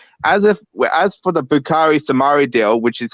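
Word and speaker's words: Boubakary Soumaré: should be doing as if as for the bukari samari deal which is how you pronounce his name cheek i was cringing every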